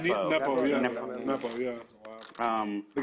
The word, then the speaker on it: Nepo: Nepo. Nepo, yeah. Nepo. Nepo, yeah. The guy who lost to Magnus last Yeah. time. And they're both just kind of choking and playing bad. Nepo choked so hard the last Well, you know